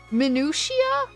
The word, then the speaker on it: minutia: Minutia. That's how it's said.